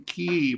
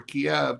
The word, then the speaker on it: Kyiv: Embassy in Kyiv or Kiev, depending on how you want to pronounce it.